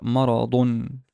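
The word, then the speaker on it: مَرَضٌ: this as ma ra because there's a fatha on the meme, there's a fatha on the ra, and there is a tanween dhamma on the da, on the da. So I would pronounce it maradun, maradun, an illness.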